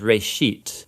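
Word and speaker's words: ראשית: It's pronounced reshit, and it just means beginning.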